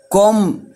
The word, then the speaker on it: comb: comb my hair، comb، comb، طبعا البي ما بتنطقش، فبقول ايه comb my hair، امشط شعري.